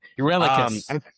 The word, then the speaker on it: Eurylochus: Greek Spell it? names. Yeah. It's Yuri Locus. Eurylocus. Yeah. Thank you, Adrian. Attaboy. Attaboy. Eurylochus.